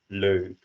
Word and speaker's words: leuk: And again, the pronunciation of you start at like an and then you go to an u approximately. So leuk.